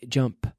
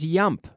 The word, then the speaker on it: jump: Jump. Eso es. Jump. No es yump. Yump, eso no vale. No. J, the J.